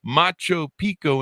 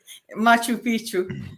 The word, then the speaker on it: Machu Picchu: should the ruins of Macho Pico in Peru the Mayans in Mexico I mispronounced that didn't I that's why you're laughing Machu Picchu no I've flown kindergarten